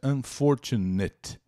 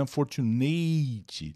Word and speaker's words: unfortunate: despeito de e unfortunate atenção a pronúncia unfortunate unfortunate não é unfortunate tá dá uma vontade louca de falar esse e final mas não é e